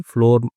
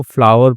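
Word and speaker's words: flour: फ्लोर आपने देखा होगा लिखा रहता है कि फ्लोर मील आटे की चक्की। ठीक है? लेकिन उसको फ्लावर पढ़ते हैं।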